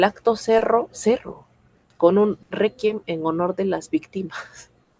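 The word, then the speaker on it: réquiem: Requiem también lleva tilde porque requiem, es una palabra grave. Tiene mayor fuerza de voz en la penúltima sílaba.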